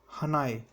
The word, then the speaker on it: Hannay: Was your major Alexander हनाय या हने, HANNAY। ये मेजर अलेक्जेंडर हने को, हनॉय या फिर हने, आप कुछ भी इसको प्रोनाउंस कर सकते हैं, इसको इस हेस्टिंग ने